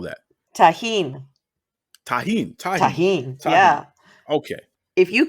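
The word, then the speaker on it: Tajín: How do you pronounce? What is the name of the seasoning? It's Tarjan? What do you call that? tahine.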